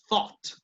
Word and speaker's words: thought: La única diferencia, aunque hay una O aquí y una A acá, pero la única diferencia en pronunciación es que como esta empieza con TH, suena como la Z, ¿no?